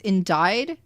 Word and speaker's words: indict: me to H indict is for some reason pronounced as indied indict indict no no